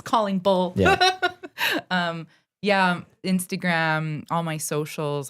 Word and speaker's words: Callingbull: I always go like this, Callingbull, so people know how to say it. It's not Coll. Not Collingwood, it's Callingbull.